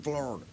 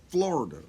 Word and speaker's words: Florida: between the two the florida f-l-a-r-d-a in florida there's florida people who just kind of say replace the o part with an a and yet they go ahead and make it a three-syllable word and that would be